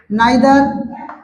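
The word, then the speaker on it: neither: इसके बाद आएगा आपका नाइदर। लोग प्रोनाउंसिएशन करते हैं इधर नीदर भी से बोलते हैं, तो वो भी कह सकते हैं आप।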